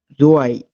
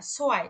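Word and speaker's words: zwei: এ ই যখন পাশাপাশি থাকবে তখন উচ্চারণ হবে আই। হুম, যেমন যেমন জোয়াই। জয় না, সোয়াই, এই যে সেট পড়ছে না।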